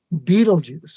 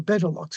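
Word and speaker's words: Betelgeuse: 498 light years away Beetlejuice or Beetlejuice or beta locks or British pronunciations I like Beetle Juice because it's like the movie and it's like and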